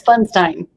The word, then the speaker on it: Pfundstein: Is it Pfundstein or Pfundstein? It's Pfundstein. Yeah. Okay, I said it wrong. So now I've got it, Katie Pfundstein.